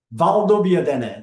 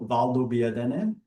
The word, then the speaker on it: Valdobbiadene: center of it, around the town of Conegliano, Valdobbiadene, this is how it's pronounced, is where we are. Conegliano, Valdobbiadene.